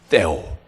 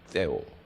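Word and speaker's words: Deo: 호람, 떼오. 떼오를 약간 번데기 발음, 우리 옛날에 배웠죠? 번데기 발음, 떼오.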